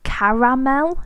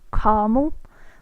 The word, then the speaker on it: caramel: It's caramel, not caramel. Like, it's actually pronounced exactly how it's spelled. If you look at it, I don't know where that second A disappears to, but gone in a lot of vocabulary in America.